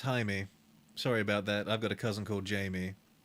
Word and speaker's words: Jaime: It's pronounced Jaime.